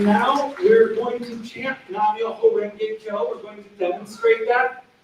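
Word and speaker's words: Nam Myoho Renge Kyo: Again, the pronunciation is Nam, Myoho Renge Kyo.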